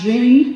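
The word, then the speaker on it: Jeanne: Jean, I think this is pronounced Jean because she's French, but Louise Calment was the oldest person to ever have lived.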